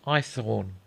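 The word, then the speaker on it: Haythorne: a question my name's ithorne what I asked I Thorn sir I thorn spell it h-a-y-t-h-o-r-n-e python oh I said Irish Cockney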